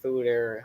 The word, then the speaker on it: foeder: Foder, but Yeah, Foder or Fooder. I'm not sure how you really pronounce it. What the hell are you talking about? Fooder is how they say it. That's how it's pronounced.